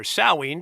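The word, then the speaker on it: Samhain: religion and for whom Halloween or salween to give it its correct Celtic pronunciation is an important religious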